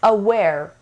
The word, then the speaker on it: aware: the fourth word is aware aware aware again we have sha sound here the burnished watering and it has two syllables and the stress is on the second syllable da to sit up